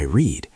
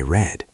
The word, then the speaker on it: read: Yes, the spelling is exactly the same, but the pronunciation changes. Today I read. Yesterday I read.